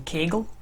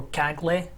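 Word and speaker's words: Kaggle: data here downloaded from kegel or cagley however you prefer to pronounce it and i don't have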